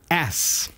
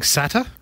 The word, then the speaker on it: SATA: how to pronounce SATA sata3 expecting SATA well they could be or they could be expecting SATA either one would be acceptable just like SATA which